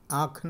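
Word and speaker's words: Aachen: ये जगह का नाम है ओरिजिनल प्रोनाउंसिएशन आखन होता है। कुछ लोग आचन भी पढ़ता है तो आचन नहीं है। कोई कोई किताब में आचन हिंदी में लिखा हुआ है। ओरिजिनल प्रोनाउंसिएशन आंख आंख लेकिन नॉर्मल इंग्लिश प्रोनाउंसिएशन में ये आता है आखन आचन नहीं है आखन।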